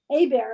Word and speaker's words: Hebert: Hebert is how you said it, but it's spelled Hebert. He's He was French.